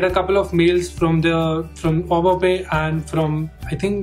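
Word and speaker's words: Au Bon Pain: a French word, so I'm pronouncing it as au bopé. It's spelled as A-U-B-O-N-P-A-I-N, and I just like applied there.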